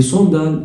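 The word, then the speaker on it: sandales: دي صندال الا ان بتتنطق اون، صندال والاو اس في الاخر ما بتتنطقش.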